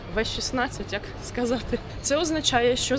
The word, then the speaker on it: V16: Е, як англійською мовою, так і читається V16.